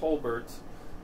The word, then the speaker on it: Holbert: My last name is pronounced Hullbert.